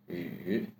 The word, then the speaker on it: 语: To say it, we say e with u mouth shape. E, yu. Third tone with hoarse voice again. Yu, yu.